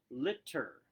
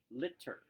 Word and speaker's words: litter: litter litter so litter making sure you are emphasizing those t's in the middle liter litter you actually will pronounce them both litter all right what is